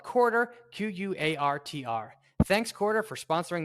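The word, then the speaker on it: Quartr: Before we finish the cash flow statement, we want to give a shout out to today's sponsor, Quarter.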